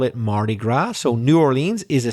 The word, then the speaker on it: Mardi Gras: It's Mardi Gras. I'd better spell that. M-A-R-D-I, Mardi Gras, G-R-A-S. So you probably have guessed, if you didn't already know, that isn't really English, it's French.